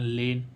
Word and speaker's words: lane: ऐसे ही इसमें LANE, ए का उच्चारण ए करने के लिए हम बाद में क्या लगाते हैं, ई, इसलिए इसी का उच्चारण नहीं होता है। ऐसे इसमें देखें लेन, ऐसे WAKE, वेग, है